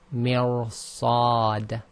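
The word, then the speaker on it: مرصاد: So this is mirsad, mir, it goes heavy because of the heavy letter afterwards, but again you need the kasra before it.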